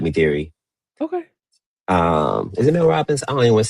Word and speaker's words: Mel Robbins: Is it Mel Robbins?